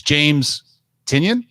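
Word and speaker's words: James Tynion: his name wrong it's james tinion we added an extra syllable on it but people love uh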